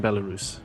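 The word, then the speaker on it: Belarus: living in Paris France but he's originally from bellaru right did I pronounce that correctly yes yeah he's originally from bellarus which used to be bellaria right back in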